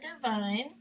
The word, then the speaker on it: Devine: And on Twitter, my name is Divine. So is spelled with an X. So. Divine, not spelled with the two I's, is actually spelled DEVINE.